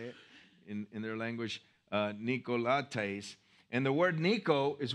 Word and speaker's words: Nicolaitans: I have this little thing where you hit the button and it tells you how to say it in their language, Nicolaitans.